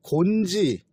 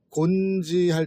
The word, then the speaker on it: 곤지: 근데 이 지를 갖고 있는 이름이 일본 쪽에서 이제 많이 발견이 되는데, 이 곤지, 일본서는 곤키오 이렇게 발음을 하지만 이 기와 지는 거의 같은 발음권에 들어가면서 같은 의미를 갖는 거예요.